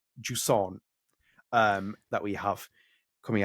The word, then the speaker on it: Jusant: And yes, it's not Jusant, as I said in my really Yeah. like tame English accent or else. Yes, this is Jusant that we have coming